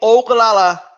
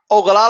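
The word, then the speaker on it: Ogallala: believe it's called the ogalala aquaair I can't really ogalala I believe is the way you pronounce it okay but what it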